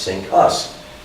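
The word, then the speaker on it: CINCUS: Navy command was called Sink Us. Can't make this stuff up. Pronounced Sink Us.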